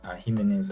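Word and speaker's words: Jiménez: Jimenez, actually, that's how you pronounce it.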